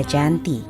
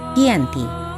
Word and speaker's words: Janti: 1755 nama Giyanti sendiri diambil dari lokasi penandatanganan perjanjian yakni di desa Janti dalam pelafalan Belanda ia tersebut sebagai Yanti dan secara tertulis ia terbaca sebagai kiyanti di tempat tersebut sekarang